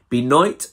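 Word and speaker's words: Benoit: up on crispy noit how do you pronounce it beat is b e n o i t i think b night so i read upon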